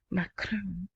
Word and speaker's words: Macron: Macron to Baghdad.